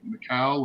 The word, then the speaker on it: Michael: I believe it was Mikhail, or I don't know how Mhm. is it pronounced, Mikhail? Is it Michael It's or? Michael. Her name is Michael. Whitney Michael. Yes, sir. Michael. Oh, like Michael.